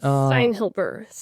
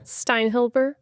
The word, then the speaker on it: Steinhilber: Steinhilber. You got it. Yes. How do you say it? Steinhilber.